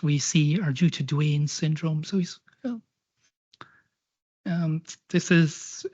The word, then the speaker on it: Duane: Americans pronounce A-N-E as Ain rather than Anne, as we'd say. One of them then became this man, Alexander Duane.